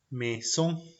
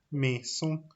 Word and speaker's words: maison: Para la combinación AI, para la combinación de letras AI, la pronunciación será E, la pronunciación será una E. Por ejemplo, maison, por ejemplo, maison.